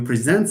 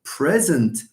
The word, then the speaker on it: present: You present something to someone, or you present someone with something, but you are present, or you give someone a present. As you can see, when we have a verb, stress generally falls on the second syllable.